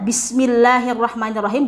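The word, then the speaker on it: بسم الله الرحمن الرحيم: harus benar dalam membacanya Bagaimana cara membaca yang benar ya Bismillahirrohmanirrohim nah kesalahan orang pada umumnya yaitu Dimat bismillah dan Arrahman itu dipanjangkan lebih dari 2 harokat saya contohkan bismillahirrohmanirohim kesalahan umumnya seperti itu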